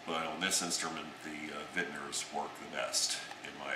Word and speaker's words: Wittner: This one is fit with Wittner, which is properly pronounced Wittner, since it is a German company, geared tuning pegs.